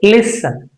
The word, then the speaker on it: listen: So what is the pronunciation? How is it going to be? We might say listen. It is very common we come across people say listening listening ja or z. These two are wrong.